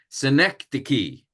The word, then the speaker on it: synecdoche: And this one, again, here's a fancy term, synecdoche.